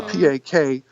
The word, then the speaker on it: Pak: Oh, well, it was spelled P-A-C-K, like Pak, as opposed to P-A-K, which can be pronounced Pak or Pak. It doesn't matter.